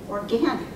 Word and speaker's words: organic: Organic. I said, I don't think there's any other words of 2 or 3 syllables that start with or in English where the second syllable is stressed.